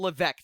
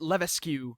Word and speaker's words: Levesque: just goes it's Paul Levesque the S is silent it's a French name oh really yes the